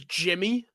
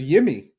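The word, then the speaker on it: Yimi Garcia: And they're like, "No, like the media pronunciation guide says Jimmy."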